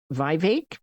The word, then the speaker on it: Vivek: I don't know, Vivek rhymes with cake.